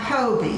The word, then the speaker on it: Phobee: And I just tell people the H is silent, because the PH does not sound an F. Yeah, because you get Phobee, you get Phoebe. Most of the time, Phobee.